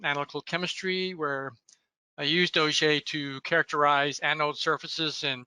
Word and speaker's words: Auger: AES or just plain OJ and by the way I often get asked about the pronunciation of the word O'Shea although it is spelled like those large drilling tools uh it is named